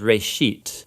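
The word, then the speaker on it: בראשית: Genesis Genesis comes from a Hebrew word it's pronounced race sheet and it just means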